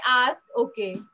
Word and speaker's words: est: Are you ready to read this? Asmi? Yes? Okay, read this line. Yeah. Very good. So this is A. Okay, Asmi. E-S-T is pronounced as A.